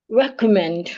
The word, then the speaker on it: recommend: We can we can also have the word recommend. Excuse me. Recommend. Recman has one C recommen. So we're stressing the last syllable men.